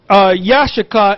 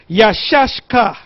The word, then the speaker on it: Issachar: Now, the way to pronounce it is not Yashachar, it's Yashashkar.